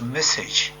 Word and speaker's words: MSSG: For this, we use a numerical weather simulation tool called MSSG, pronounced message.